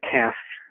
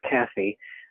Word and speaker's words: Cassie: Next, I know I'm always mispronouncing her name, Cass, but she said it's Cassie.